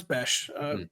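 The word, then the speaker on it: Bech: Is it pronounced Beck, by the way, or is it Bes? I think I'm I think it's Beck. Beck. Bes. No, it's BH per Adam.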